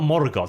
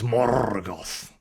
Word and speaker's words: Morgoth: the RS on everything it's not more Gods it's morgoth yo but that makes